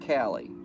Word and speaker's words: Kali: me callie it's pronounced cali colina okay and it's what cali uh she said she sent you a link uh cal okay k-a-l-i pronounce like callie okay there you go